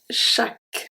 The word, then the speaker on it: chaque: And finally we have chaque, chaque, chaque.